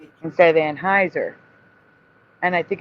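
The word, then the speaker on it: Anheuser: people talking about the boycott and saying the name wrong, right? They were saying Anne Hower instead of Anneheiser and I think it's because of the spelling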